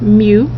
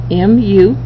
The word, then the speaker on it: mu: this information here we have this symbol mu pronounced mu mu okay it's what we call our population mean